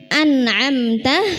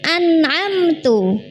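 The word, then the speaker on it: أنعمت: Contohnya anamta dibaca an'amtu. Nah, itu mengubah harakat.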